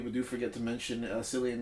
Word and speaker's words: Cillian: do forget to mention Cillian Murphy or Killian Murphy over you pronounce it Killian mark yes killer Murphy